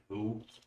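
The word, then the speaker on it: The HU: Ah, but yeah, I think my favorite of hearing Mongolian throat singing is from the Mongolian metal band Who. Yeah, it's spelled H U.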